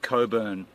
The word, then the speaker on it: Cockburn: the town is called cockburn cockburn it's spelled cockburn put you up to that but it's spelled Co apparently it's said Coburn and um yeah who uh